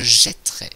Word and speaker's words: jetterai: que je fais ainsi, je prononce je jetterai. À nouveau, c'est un E ouvert. Donc, si je suis la même règle que tout à l'heure, je devrais mettre l'accent grave sur le E ici, mais c'est une autre règle. Jeter. Cette fois-ci, c'est le T qui va se modifier. Le T se change en 2T devant un E muet.